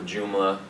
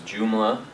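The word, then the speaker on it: Joomla: know WordPress is some people have heard of jumla many people still have a custom home written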